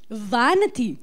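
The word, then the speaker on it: Vanathi: and then I'll repeat after you okay Vanity Vanity yes that's the right pronunciation vanity all right um you're a bundle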